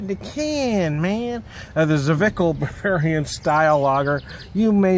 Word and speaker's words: Zwickel: I say look up the style so I'm pronounced vical the flagship lager of our reverence serious classically